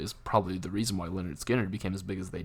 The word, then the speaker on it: Lynyrd Skynyrd: It's pronounced Lynyrd Skynyrd.